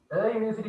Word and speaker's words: university: university at a university university කියලා කියන්නේ මොකද university කියවම y sound එකක් එන්නේ ඒක vowel sound එක නෙමෙයි consonant sound එකක් u යයන්නේ යයන්නේ කියන්නේ